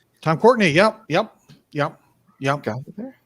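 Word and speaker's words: Tom Courtenay: check these out for yourselves i believe it's pronounced tom cortenae tom courtney yep yep yep yep there yeah um michael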